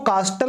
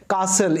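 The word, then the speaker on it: castle: हक हासिल तो दोस्तों इसको कास्टल नहीं बोलेंगे इसको सही प्रणाम उस करते हैं काउंसिल इसमें जो टीन है वह साइलेंट होता है इसका मतलब होता है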